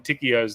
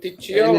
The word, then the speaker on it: Ticchio: Yeah, because everybody seems to pronounce Pinocchio correctly, but my name was always Ticchio instead of Ticchio, like Pinocchio.